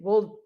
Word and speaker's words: Wojtek: Wojtek. Wojtek, which is, well, there's a few ways to spell it, but that's the easier way.